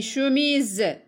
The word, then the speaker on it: chemise: Une chemise, la lettre S se prononce Z, 2.